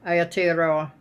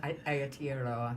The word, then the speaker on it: Aotearoa: yeah, Aotearoa. Yeah, Aotearoa. Yeah, I should be able to yeah, pronounce that.